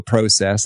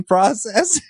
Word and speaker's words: process: made reference to a process and I pronounced it with the long o and they said Peter are you Canadian and I said no I just like the way Canadians say process you know how you